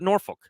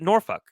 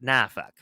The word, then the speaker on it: Norfolk: area will pronounce it Norfolk, those who are from the area pronounce it NOR-fuk, and those who just wanted to get one over on the middle school teacher pronounce it NAH-fuk.